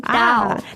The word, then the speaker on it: 倒: The same pronunciation, Dao.